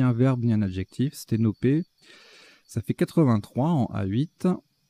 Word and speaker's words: sténopé: Sténopé, alors c'est un nom commun, hein, ça s'écrit, ça se prononce P à la fin, enfin et à la fin, mais c'est ni un verbe ni un adjectif. Sténopé, ça fait 83 en